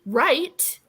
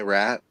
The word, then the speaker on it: Wright: Bonnie Wright. Oh my gosh. You mean Bonnie Rat? Right. Is it pronounced right?